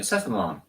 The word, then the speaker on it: Sethanon: Sethanon? Yeah, Sethanon.